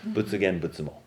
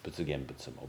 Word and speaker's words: Butsugen Butsumo: Butsugen Butsumo is how it's pronounced in Japanese. Butsugen Butsumo, Buddha I, Buddha Mother.